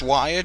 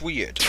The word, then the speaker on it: Wyrd: Dr B plays weird it might be pronounced wir but I'm pretty sure it's weird Arc cuz we're going to